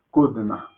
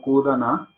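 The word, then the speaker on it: कूदना: Por eso acá decimos kudna. No kudana, sino kudna. Kudna. La A es muy rápida la pronunciación.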